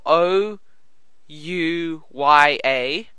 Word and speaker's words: Ouya: the the o yeah which is spelled o u y a and there's also more like ouah yeah that's it that's it that's it um it's it's the Ouya that's that's it basically